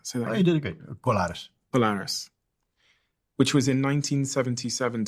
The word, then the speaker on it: Colares: I can't pronounce that. So you did it great. Colares.